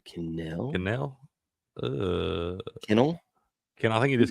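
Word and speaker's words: Kanell: Cannell? Kennel? I think it is Kennel.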